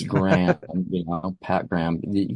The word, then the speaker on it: Graham: name correctly in England but it's I to spell it all the time but it's Graham you know Pat Graham you can get that's